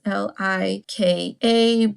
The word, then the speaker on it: Laika: Laika, I'm not exactly sure how to pronounce that. It's Lika, but they are a very